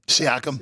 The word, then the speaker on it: Siakam: Siakam.